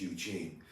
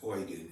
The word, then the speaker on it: Eugen: it's sometimes pronounced as Eugene it's oan in German EU is pronounced oi and oan uh was